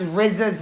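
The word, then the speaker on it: RZA: There was some mistakes on how to pronounce Rizza's name, which is her son.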